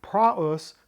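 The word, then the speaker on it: πραΰς: pretty great stuff so our word of the week prus not PR not PR led to the German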